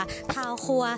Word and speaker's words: เต้าคั่ว: ทุก คน ได้ รู้ จัก นั่น ก็ คือ ตา ครัว หรือ ใน ภาษา ใต้ นะ คะ ค่ะ จะ ออก เสียง ว่า เ้า ครัว หลาย คน นี้ อาจ จะ เคย ได้ ยิน